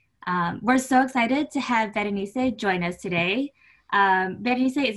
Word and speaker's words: Berenice: Well, my name, for those who are non-Spanish speakers, it's a combination of the word Berenice, and then you drop the R and you drop the S, and it's just Berenice.